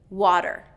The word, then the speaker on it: water: A T surrounded by vowels creates that D pronunciation.